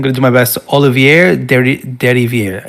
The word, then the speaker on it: Olivier Derivière: Composed by, I'm going to do my best, Olivier Derivière. It's French. He is French. Yes. I know that much. I believe that is how you pronounce it.